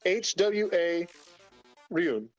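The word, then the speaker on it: Hwaryun: It's HWA Ryun, like RUUN.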